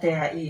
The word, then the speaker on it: the: Kemudian the, nah kita pakai the, bacanya THI gitu ya. The tapi bacanya THI. Kok ada ya? Ada. Karena apa tadi? Kenyamanan mengucapkan dalam berbahasa itu ya. Contoh di itu ketika bacaan setelahnya kata-kata setelahnya itu dibaca vokal gitu ya.